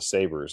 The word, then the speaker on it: Sabres: ended up with the Sabers. And the interesting thing, so it's spelled S A B R E S. It's kind of like a more of a French Canadian spelling. a saber like a sword you s a b-